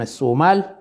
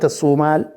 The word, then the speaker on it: الصومال: يعني كلمة الصومال لا تجد لها اسم لا مرجع في القدم. الجدير بالذكر أن ياقوت الحموي يذكر منطقة اسمها سمالي بالسين وليس، والصحيح في نطق الصومال بلاد الصومال بالسين وليس بالصاد.